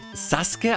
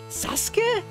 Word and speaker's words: Sasuke: den kürzesten Weg kennt das wird saske ausgesprochen warum denn da ist doch ein U was haben die mit dem U gemacht saske oh Gott Ameisen